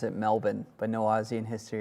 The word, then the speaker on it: Melbourne: Jack Boyds, you're correct in that we pronounce it Melbourne, but no Aussie in history has ever said put shrimp on the.